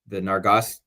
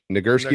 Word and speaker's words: Nagurski: How do you say it? The Nargos. What is the award Kennard just won? The Nagurski Award. Nagurski.